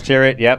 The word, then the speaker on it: Tyrwhitt: So you've previously been at Aspinall and Charles Tyrwhitt.